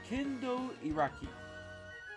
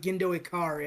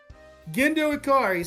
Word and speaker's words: Gendo Ikari: Next up is Evangelist with Kendo Iraki. I got it. Neon Genesis Evangelion with Gendo Ikari.